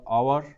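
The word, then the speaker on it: hour: आवर means हमारा, एंड आवर means घंटा. Okay, इसमें एस साइलेंट होता है.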